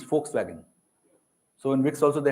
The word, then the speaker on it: Volkswagen: backfired so it can it is never pronounced as V it is pronounced as F and so your name